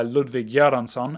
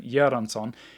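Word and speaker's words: Ludwig Göransson: thoughts on film music but this score by ludwig yaranson and yes that is how you say his name yeranson is really good i really liked a lot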